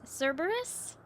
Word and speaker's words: Cerberus: You can pronounce it like the three-headed dog. Oh, that was my second guess. Cerberus.